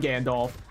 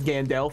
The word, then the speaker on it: Gandalf: act as though I'm Gandalf uh or I've been told that the corre correct pronunciation is Gand Del and I don't believe that for a second I think that that